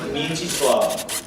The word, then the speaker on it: Mieczysław: Can you pronounce it? Say it. It's Mieczysław.